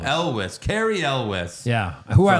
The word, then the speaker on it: Elwes: Elwes. Elwes.